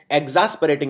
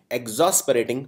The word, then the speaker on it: exasperating: सही, इसको एग्जॉस्परेटिंग नहीं एग्जॉस्परेटिंग प्रोनाउंस किया जाता है।